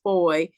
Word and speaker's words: Fahie: And I know my last name f ah i e being pronounced boy is confusing, but it comes that name actually comes from the British Virgin Islands.